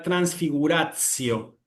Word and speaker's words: transfiguratio: En la pronunciación eclesiástica acá nos va a quedar transfigurazio. Transfiguracio. Cuidado que no es transfiguracio, no es la C, es la TS.